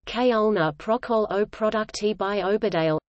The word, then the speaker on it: খুলনা প্রকৌশল ও প্রযুক্তি বিশ্ববিদ্যালয়: Khulna University of Engineering and Technology, Bengali, Khulna Prakausala O Prayukti Bisbabijalaya, pronounced Khulna Prokol O Produkti by Obadale, commonly known as KUET, Bengali, KUET, formerly BIT,